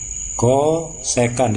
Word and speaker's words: kosekan: Kosekan di kalkulator itu SCS ya, CSC, kosekan dibacanya.